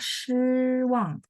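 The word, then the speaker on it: 失望: Satu bacanya shiwang. Shi, ini baca shi. Dia pininnya sama dengan lao shi de shi ya.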